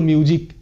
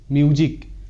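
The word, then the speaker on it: music: বর্গীয় জয়ের মতো হয়, এখানকার প্রত্যেকটি ওয়ার্ডে এসের উচ্চারণ বর্গীয় জয়ের মতো হবে, কারণ এখানে ভিসিব রুল কাজ করছে, আর কীভাবে কাজ করেছে সেটা দেখে নাও। তো ফার্স্ট যে ওয়ার্ড সেটা হলো মিউজিক, মিউজিক।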